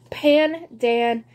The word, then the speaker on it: pandan: gold fashioned um and pandan camp pan Dan pan cakes that's how you say it pandan which is I believe